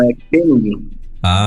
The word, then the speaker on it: Koenig: Não, é Koenig. É Koenig. Muito bom. Koenig. Como? O O tem o som de E.